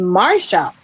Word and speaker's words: Marcia: somebody was saying um she doesn't pronounce her name Marcia. She pronounces her name Marsha.